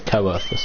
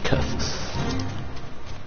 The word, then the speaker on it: Coerthus: Oh, so we're finally going into Kurthus properly. I was pronouncing it as Coerthus, but please just put Kurthus.